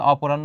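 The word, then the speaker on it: অপরাহ্ণ: নিচে কি ছিল দেখো অপরাণ্য উচ্চারণটা হবে অপরাণ্য মানে বিকালবেলার এক শেষ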